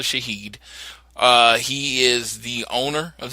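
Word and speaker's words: Shahid: call them but I've based on what I looked and pronunciation it's actually Shaheed he is the owner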